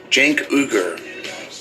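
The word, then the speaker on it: Cenk Uygur: clip of the dude from The Young Turks jank cougar from The Young Turks that's how you pronounce it I looked it up I saw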